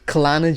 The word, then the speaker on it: Kelana: Kampong Kelana Jaya. There's no kampong. That's not Shut kampong, the bro. fuck up. Klana Jaya. That's how they pronounce it.